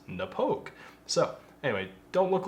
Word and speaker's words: Knappogue: kiss I realized that it wasn't nap hog it was Napo so anyway don't look